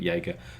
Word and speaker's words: Yeager: There's the main protagonist, William Yeager. Or some people pronounce it Jaeger. But Yeager, essentially former SAS.